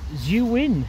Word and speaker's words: Zhiyun: Okay, so this has been the sort of first impressions of the Zhiyun, is how you pronounce it, actually.